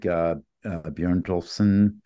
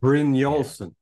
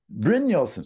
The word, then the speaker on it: Brynjolfsson: I think that when we go back to the, you know, like for instance, Eric Bjørnjolfsson from Stanford HAI. Brynjolfsson. Brynjolfsson, sorry, I had to write out his name phonetically.